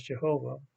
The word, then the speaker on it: Jehovah: four Hebrew letters of his name, which we pronounce as Jehovah. Some people have all kinds of other pronunciations for that, but some of the Hebrew scholars that I've talked to say that Jehovah is actually closer to the real thing than